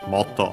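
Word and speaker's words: もっと: And we have motto, more, repeated here, so more and more, accent on the motto, on the motto, and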